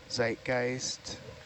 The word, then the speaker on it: Zeitgeist: I'm not sure if you saw this comment while I was gone, but uh somebody said zed in German is always pronounced like T's or TS, by the way.